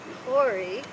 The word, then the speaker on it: Corey: And the name Corey, pronounced Corey, right, Michelle? Corey, okay, means priest in Arabic.